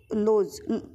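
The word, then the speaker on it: Lodge: Thomas लोड जो है लोड लोज Thomas लोज है यह डी जो है साइलेंट होता है लीली थॉमस लोज और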